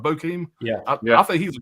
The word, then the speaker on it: Bokeem: Bokeem Woodbine, I say his name right, Bokeem.